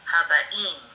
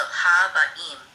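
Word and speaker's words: הבאים: In this accent of this word is on the last syllable, so Haba'im.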